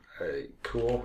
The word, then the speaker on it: CeWL: So what we're going to use for that is cool, is how I pronounce it, CeWL.